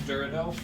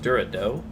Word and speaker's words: Dorado: This is Durado. Yeah, this is it's pronounced Dorado.